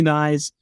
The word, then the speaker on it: Knies: that and Matthew nice you mentioned nice rhymes with sides this is where we